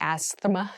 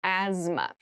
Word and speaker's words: asthma: cavity asthma asthma Asma so this word has very interesting spelling there's a th in the middle but we don't say asthma we say asthma so kind of ignore that but try to remember it when you're spelling this word so as as is